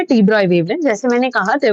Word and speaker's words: de Broglie: जो है वो एक्चुअली डी ब्रॉगली नहीं है, डी ब्रॉय है। ठीक है, एनसीईआरटी में लिखा है कि हम उसको प्रोनाउंस डी ब्रॉय के तरीके से करते हैं, बट लोग डी ब्रॉगली पढ़ते हैं जिन्होंने एनसीईआरटी नहीं पढ़ी होती।